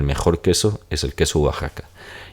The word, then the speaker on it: Oaxaca: o a Ja k en realidad se pronuncia Wa Como si fuese una u deslizada Y tenemos aquí oxaca